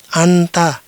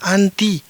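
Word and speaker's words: أنت: Cara membacanya adalah "anta," kamu, seorang pria. Ini juga bisa dibaca "anti," kamu, seorang perempuan.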